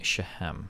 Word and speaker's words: Shechem: The C is silent in Shechem.